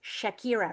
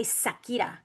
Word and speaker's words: Shakira: they are interviewing her, they don't say shakira, they say sakira because they can't pronounce the sh. So, I don't know if any of you have picked picked up on that before, but next time if you're watching any of her interviews in Spain, right? Specifically in Spain, a lot of them say sakira sakira because they can't say shakira.